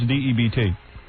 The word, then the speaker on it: debt: How do you pronounce D-E-B-T? Debt.